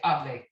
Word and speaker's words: hable: So you say hable instead of the subjunctive where you say hable, okay?